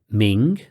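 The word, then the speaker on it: 明: Ming Tien Ming Tian Ming second tone means bright and we already know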